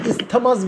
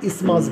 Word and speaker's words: isthmus: এখানে একটা জিনিস বলে রাখি, শোনো, ইসমাসের স্পেলিংটা দেখো, ISTHMUS, কিন্তু আমরা এটাকে কিন্তু ইস্থমাস বলবো না, আমরা এটাকে ইসমাসই বলবো, ঠিক আছে? বোঝাতে পারছি? হ্যাঁ স্যার, টিএইচটাই থাকবে, টিএইচটা সাইলেন্ট থাকবে, আমরা ইসমাস বলবো, ঠিক আছে?